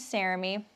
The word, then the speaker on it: Saremy: If you're new here, my name is Saremy, rhymes with Jeremy.